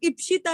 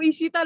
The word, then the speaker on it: इप्शिता: मेरा नाम इप्शिता है, जिसको देखो इशिता लगा हुआ है।